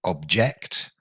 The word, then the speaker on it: object: a verb to object notice the difference in uh word stress there we have object a thing and to object so the stress falls on the second syllable and to object means